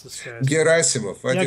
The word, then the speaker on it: Gerasimov: I'm not sure how to pronounce this guy. Gerasimov. Yeah, Gerasimov, yes.